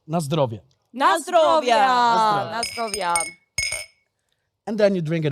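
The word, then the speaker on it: na zdrowie: say uh in polish it's quite similar as to in other eastern and southern countries so it's nostrovia and then you drink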